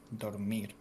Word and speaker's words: dormir: Dormir, sleep, dormir. Dormid. I'm gonna sleep. Voy a dormir. Voy a dormir. I'm gonna go door. Like a door. Door. Door. Door. Mir. Dormid. Mir. Door. Dormi. Dormir. Dormir, like M-I-R? Yeah. Dormir. D-O-R. Dur. M.